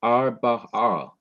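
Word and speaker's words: ארבעה: This is 1 syllable, that's R. This is another syllable, ba. And this is the third syllable, ah. So together it is arba'ah, arba'ah, arba'ah, which means 4.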